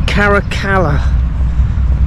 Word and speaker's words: Caracalla: they're open though after I've mispronounced it twice it's caracala caracala the bars of caracala or charachala okay I